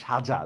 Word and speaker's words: সাজা: Same দেখেন, সাজা বলি না সাজা বলি, আমরা বলি কি সাজা, দেখছেন লিখছি আমি কি দন্তস্ব, উচ্চারণ করতেছি তালব্যস্য।